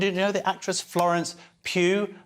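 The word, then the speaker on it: Pugh: know the actress Florence Pew her name rhymes with poo but uh what's our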